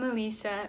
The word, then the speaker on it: Alisa: I'm Alisa, rhymes with pizza, ding!